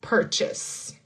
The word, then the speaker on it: purchase: Purchase. Purchase. So, we have the R that we talked about, the CH, and that S, not the Z.